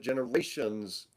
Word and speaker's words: GenarationZ: Cognition and Generation Z, which you pronounce it generations.